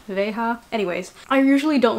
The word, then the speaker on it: Veja: a lilac v right here i think they're pronounced beija veja anyways i usually don't like to buy things